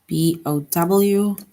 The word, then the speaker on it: bow: So here we have the word bow, BOW. And in the sentence, the word bow, it rhymes with how.